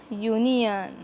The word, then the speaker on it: union: समजा, here U is a vowel but pronunciation starts from consonant.